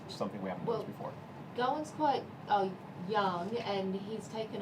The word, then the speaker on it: Gawain: Also standing here is Gawain. Is that pronounced correctly?